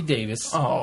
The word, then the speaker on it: Davies: another pronunciation uh note the surname Davies in the UK is generally pronounced the same as Davis here in the state so Russell T Davis pronounces his name Davis we've been I noticed